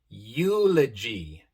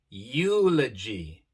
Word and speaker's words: eulogy: Por ejemplo, en palabras como neuron, neuron, Europe, Europe, eulogy, eulogy. Vemos que aquí la E se pronuncia de forma larga, I, pero la U también se pronuncia. Neuron, Europe, eulogy.